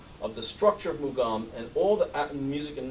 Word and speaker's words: mugham: the Caucasus when the idea of makam as the Arabs pronounce it or makum as the as the Hebrews ancient Hebrews pronounce it mugam as the aeran is pronounce it what was there